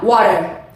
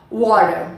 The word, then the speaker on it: water: A pronúncia americana, water. Water, tá? A pronúncia americana, gente, onde a gente tem o T no meio da frase, no meio da palavra, perdão, a gente esquece o T, water.